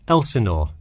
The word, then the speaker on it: Elsinore: Could you spell that for me? Sure, it's Elsinore.